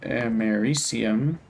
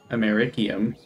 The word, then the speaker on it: americium: I mean, if we have a way to get americium, or if you pronounced it the same way as Omni does, it'd be americium, but that's incorrect.